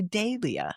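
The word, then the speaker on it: Dahlia: It's funny the Brits say Dia and I see that H and I can't go Dia. I want to say Dalia.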